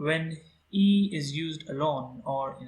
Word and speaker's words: 一: Okay, so here we can see that the tone mark of E is unaffected, unchanged. Its pronunciation is the same as its original pronunciation.